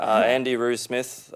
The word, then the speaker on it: Andy Roo Smith: Andy Roo Smith, as it's spelt, Roo as in kangaroo, ANDYROO SMITH.